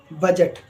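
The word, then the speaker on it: budget: लेकर आया जैसे बी यू डी जीई टी बजट बी आर आई डी जी ई ब्रिज यानी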